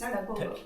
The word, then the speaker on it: Tagpo: How do you pronounce that? Tagpo. It's Tagpo. Tadpo?